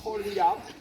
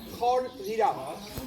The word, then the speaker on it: Khor: So we are near the monastery, which is named Khor. First of all, I'll ask you to pronounce it correctly. Come on. Khor. Khor. Once more. Khor.